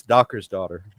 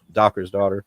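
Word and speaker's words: Dokkr's Daughter: It's Docker's daughter. It's kind of phonetic. It's not, I guess, not entirely phonetic. Yeah, it's Docker's daughter.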